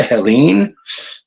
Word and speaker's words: Helene: I hope any friends we have near the path of Helene. Okay, I guess that's the best way to pronounce it because of the extra E on the end. Helene, category 4.